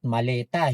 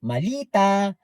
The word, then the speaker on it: maleta: Ah tapos yung pagbigkas ng maleta ay dapat maleta hindi malita.